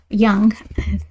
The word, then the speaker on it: Jung: theories and uh the jungian school young the proper pronunciation um so she um